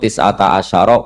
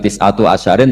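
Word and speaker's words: تسعة عشر: Berarti alaiha itu tetap yang ngatasin rokok tis'ata asyara utawi 19. Tetap bacanya bukan tis'atu asyarin tapi tis'ata asyara.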